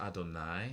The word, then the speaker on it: Adonai: specific thing uh that this is pronounced adonai that's not literally how it looks in hebrew it's just the ancient